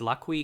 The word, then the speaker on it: Lak-hui: The company that would eventually create LG Chem and LG Energy Solution was founded in 1947 as Lucky Chemical Industries, pronounced Lucky.